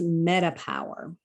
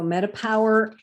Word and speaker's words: metaPWR: ahead and jump into the Met metapower it's pronounced metapower so metapower I'm going to explain it's multiple products and